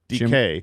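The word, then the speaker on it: Dike: And if you're, if you're looking for his name on the platform and it's difficult to find because his name is pronounced DK.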